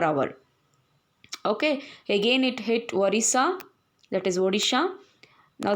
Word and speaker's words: Odisha: Okay, again it hit Orissa, that is Odisha. Now the pronunciation is different, so you need to pronounce it as Odisha. Before it was Orissa, now it has to be pronounced as Odisha.